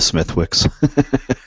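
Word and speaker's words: Smithwick's: really silent w oh for the smithwicks silent w it's smithwicks no go look it up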